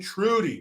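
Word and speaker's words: Trudeau: sister Shirley says Jericho you're pronouncing his name wrong it's Justine Trudy my bad I can't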